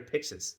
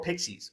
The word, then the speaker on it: Pixis: Or Pixies or Pixies. I'm not sure how to pronounce his name. I would say Pixis until I start saying Pixies.